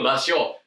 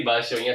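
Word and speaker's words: 場所: Baso. Ada u-nya atau enggak? Tadi saya sudah ngomong loh. Awas kok salah kalian enggak ada u-nya ya berarti basionya salah.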